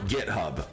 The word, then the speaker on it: GitHub: Like, you can go to GiftHub and find these or is it GitHub? Thank you. Now, nobody told me. Okay, we Okay, so GitHub.